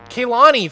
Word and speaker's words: Kaylani: My name is pronounced Kaylani. Kaylani. I said it pretty good, right? I said Kaylani, and it's actually Kaylani. So I was really close.